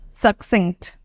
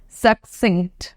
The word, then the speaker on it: succinct: here it out suin succinct done okay now as I was saying that we can see two C's here but the pronunciations are different the first one is the hard one hard c c c